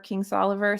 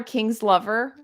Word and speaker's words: Kingsolver: I always want to call her King's Lover, and I can't get the I'm letters right in her Barbara, name.